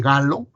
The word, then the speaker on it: Gallo: Y el hallazgo de este virus, hecho por el virólogo francés Robert Gallo se escribe pero se lee Gallo, fue todo un boom, porque no habíamos descubierto retroviruses en humanos.